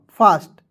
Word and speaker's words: fast: उसके बाद FAST, तो F का फ, ठीक है, A से आ की मात्रा, S का आधा स, T का ट, फास्ट। ठीक है? और देखिए एक और तरीका है, F का फ लिख दीजिएगा और AST का उच्चारण दोस्तों आस्ट के रूप में कीजिएगा, तो इसमें आस्ट जोड़ेंगे तो हो जाएगा फास्ट।